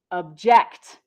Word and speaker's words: object: But the verb form is pronounced object.